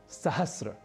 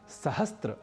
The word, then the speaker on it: सहस्र: इसी प्रकार एक और शब्द है सहस्र, जिसे हम प्रायशः सहस्त्र बोलना और लिखना शुरू कर देते हैं और कई लोगों के